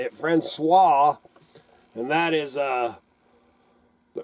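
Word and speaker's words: François: or Fran franois that's how you say it franois and that is uh the early life of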